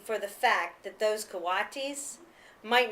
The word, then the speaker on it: coatis: These are coatis, Miss Brisbane said, reading from the letter, pronounced co-a-tis.